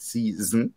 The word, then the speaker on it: szn: stream it even though it's not spelled season it's spelled s-z-n-s-z-n young people call It season or you can just